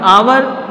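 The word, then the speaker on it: hour: रहा है इसका साउंड आवर, एच क्या है साइलेंट और बाद में चलेगा ओ यू आर, तो इसका जो प्रोनाउंस निकलेगा वो क्या निकलेगा आवर, अंडरस्टैंड।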